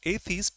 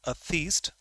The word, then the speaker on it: atheist: know this the pronunciation is correct it is pronounced atheist not atheist that we usually say on which we have